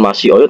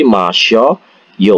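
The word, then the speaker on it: 마셔요: Bukan masih oyo tapi masyoyo untuk mempermudah pengucapan masyoyo.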